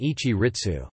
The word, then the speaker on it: 市立: For example, Sili, privately established, especially school, and Shili, city established, are both normally pronounced Shi-Ritsu. In speech these may be distinguished by the alternative pronunciations Watakushi-Ritsu and Ichi-Ritsu.